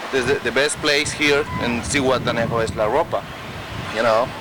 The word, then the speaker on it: Zihuatanejo: And you pronounce the name here? Zihuatanejo. Zihuatanejo.